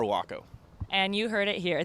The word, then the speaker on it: WACO: at the wacko kitchen the main specialty is the waco taco and of course it had to be named the waco taco just so people start pronouncing our name correctly we are not waco we are waco and you heard it